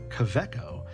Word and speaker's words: Kaweco: this is the COO CCO Lily put um there is a w in there but it's apparently pronounced with a v um I'm not going